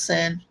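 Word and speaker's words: Synne: means blah blah blah but send this spell s-y-n-n-e you know so you know yeah we're gonna pronounce this sin and then um jericho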